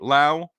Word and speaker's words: Lowe: Lao had a night Lao rhymes with now went two for four